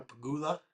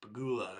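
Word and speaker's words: Pegula: Coco, Jessica Pigula, I was saying her name wrong for a long time. Peggy, it's Pagoula, I guess.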